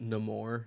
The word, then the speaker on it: Namor: I believe it's pronounced Namor now, Sean.